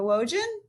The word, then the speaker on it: Wojin: Pull down my name, Wojin, rhymes with Trojan, and please support me.